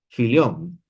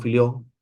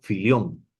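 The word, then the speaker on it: Fillion: Vamos a a leer algo de Luis Clan Filón, perdón, lo he pronunciado mal Luis Clo Filión, ¿no?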